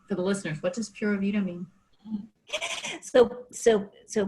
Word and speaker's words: Pura Vida: But before we go, I think I know what Pura Vida is, but for the listeners, what does Pura Vida mean? So Pura Vida, or you can also pronounce it Pura Vida, more like Pura the Vida.